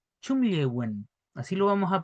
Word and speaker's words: chumllewün: Chumlewen. Chumlewen. Así lo vamos a pronunciar ya, para que tengan cuidado con su correcta pronunciación.